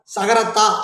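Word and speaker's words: secrétaire: அதே போல் செகரட்ரி, இப்போ நம்ம செகரட்ரி அப்படின்றது ஆங்கிலத்தில் செயலாளர், அதே ஃப்ரெஞ்சில் பார்த்தீங்கன்னா சகரத்தா, அந்த டீயை வந்து அவங்க தாளை உச்சரிப்பாங்க, சகரத்தா சகரத்தா அப்படின்னு உச்சரிப்பாங்க.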